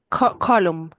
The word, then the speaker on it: column: it's the second um how do you say column it's colum colum uhhuh it's the um six